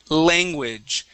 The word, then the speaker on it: language: hold on one second make sure the L Sound foreign language okay remember get your tongue up to the top of your mouth foreign language okay so